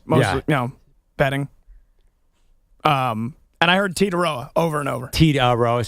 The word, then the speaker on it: Tetairoa: And I heard Titaroa over and over. Titaroa. So the I is silent. Yes, Titaroa.